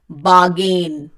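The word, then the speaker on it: bargain: बार्गेन, the pronunciation is बार्गेन। सी get this very straight कि आपको आर नहीं बोलना है मैक्सिमम प्लेसेस पे, रूल के लिए आप वीडियो देखिए।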